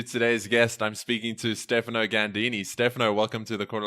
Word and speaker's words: Stefano Ganddini: I'm speaking to Stefano Ganddini.